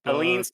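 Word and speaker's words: Aleene's: Eileen's tacky glue. Eileen's? Yeah, but it's spelled like an A.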